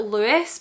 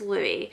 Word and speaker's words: Louis: question Lou or Louis the AUD book narrator pronounced it Louis but I'm pretty sure it's Louie Louis is the one